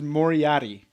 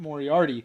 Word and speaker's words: Moriaty: So we also got to, this is Moriaty. Moriaty. There's no extra R in there. It's not Moriarty.